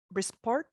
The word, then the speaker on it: Brisport: lot Aaron thanks a lot to Senator Bruce brisport that's how you pronounce it for your talk and so first